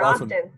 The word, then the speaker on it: often: in the 1500s some speakers sound the t saying often for others it is silent as in soft and fasten and listen either pronunciation is acceptable